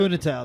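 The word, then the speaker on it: Funitel: Funatel, that's right.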